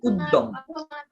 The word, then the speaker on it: উদ্যম: এক্ষেত্রে একটু খেয়াল করেন, আমি এটার উচ্চারণ করেছি উদ্যম। উদ্যম উচ্চারণের নিয়মে জটা দ এর মতো উচ্চারণ হয়েছে, কিন্তু বর্ণ কি চেঞ্জ হয়ে গেছে? বর্ণ তো জ জই আছে, সেই জন্য আমরা জটা বসিয়েছি।